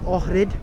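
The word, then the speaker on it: Ohrid: It's actually Lake Orid. That's how you pronounce it. Lake Orid.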